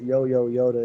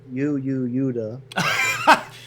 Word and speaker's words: Yoda: Okay, And actually, you don't pronounce it Yo-Yo Yoda. It's Yuda.